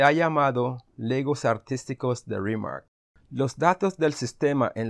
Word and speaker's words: RMRK: hoy vamos a analizar rima rm rq pronunciado rimar es un conjunto de